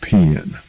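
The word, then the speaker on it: paean: my shagrin when I learned from the internet that it is pronounced pan perhaps I'll just stick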